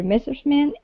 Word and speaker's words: measurement: Mej, with the z sound there.